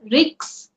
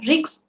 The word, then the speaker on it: risk: First is risks. You are pronouncing it as risks, but it is risk.